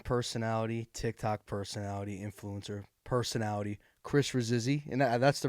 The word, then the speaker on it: Chris Rasizzi: I'm with my good friend, and I like to say Instagram personality, TikTok personality, influencer personality, Chris Rasizzi. And that's the right pronunciation, Yes, sir.